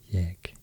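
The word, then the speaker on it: ég: It's still pronounced like that in Icelandic, I think, jeg, even though it's spelled with just e, chi.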